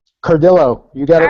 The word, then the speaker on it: Cardillo: that okay I said cardo I thought that's actually the Spanish pronunciation but I'm Italian but I've been called